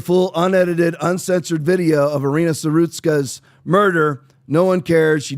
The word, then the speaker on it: Irina Zarutska: Aaron, what do you think about the pronunciation of her name? Irina Zarutska? I think so. Zarutska? Yeah. Irina, you think? Yeah. All right, Irina Zarutska.